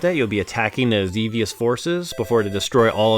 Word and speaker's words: Xevious: Here's a Xevious. Yeah, rhymes with devious.